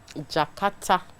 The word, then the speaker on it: Jkarta: Jkarta.